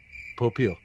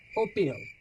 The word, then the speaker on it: Popeil: Popeil. Popeil. It's Pompil.